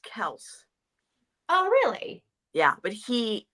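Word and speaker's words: Kelce: to be pronounced that his father changed it it's supposed to be pronounced Kel oh really yeah but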